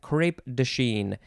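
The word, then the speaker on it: crêpe de Chine: the second word is d-e third word c-h-i-n-e crepe dashin and you can put the little hat carrot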